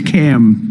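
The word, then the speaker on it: Kamla: No, sir, it's a little different. It's Cam. What? Cam as opposed to Com.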